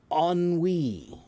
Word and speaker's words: ennui: Can anyone phonetically guess what it should sound like? The word is ennui. Ennui. And yeah, that's French. So ennui is a feeling of tiredness and boredom kind of put together.